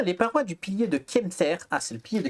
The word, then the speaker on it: Kemter: Comment tu dis Kemter? K-E-M? Comme ça se prononce, K-E-M-T-E-R, Kemter.